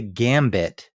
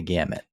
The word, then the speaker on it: gamut: gamut runs I read I said runs the Gambit half a dozen times uh it just I don't think it's one of those things like that people mispronounce all the time I just that doesn't sound right runs the gamut yeah g m u t I know that now